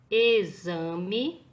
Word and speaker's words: exame: No livro de caligrafia, turma, na página 60, nós temos o X com o som de Z, ok?